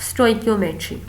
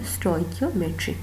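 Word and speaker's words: stoichiometry: Demi cube होता है स्टोइकियोमेट्री अच्छा यहां पे ना इसको प्रोनाउंस करने के भी दो तीन यूज होते हैं वर्ड्स तो आप लोगों ने स्टे कमेट्री ही प्रोनाउंस करना है या रिएक्टेंट्स और प्रोडक्ट्स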